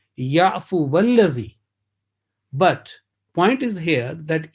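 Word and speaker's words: يعفو والذي: And you already know that it will be waw, which is maftuha, mutaharrik, will be joined with lam mushaddad, which is alladhi. So the pronunciation will be ya'fu walladhi.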